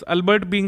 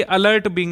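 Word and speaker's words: Alert Being: उसके बाद अल्बर्ट बीइंग awards, अल्बर्ट बीइंग awards में AR रहमान को पुरस्कार मिला है, बायोकॉन फाउंडेशन के द्वारा दिया जाता है। एक्चुअली ये अलर्ट बिंग है, अल्बर्ट बिंग नहीं है,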